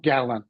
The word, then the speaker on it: gallon: they read gallon, gallon, flex that second syllable to a schwa, gallon. Oh, gallon.